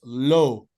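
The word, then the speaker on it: l'eau: low l apostrophe e Au and it's correctly pronounced it's low okay so go l so Lo so yeah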